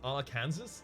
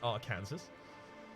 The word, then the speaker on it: Arkansas: can prefer its pronounces ala Kansas yeah pretty sure it's Arkansas well certain right cuz there'd be no reason for it and Kansas to be pronounced significantly differently that'd be insane clinical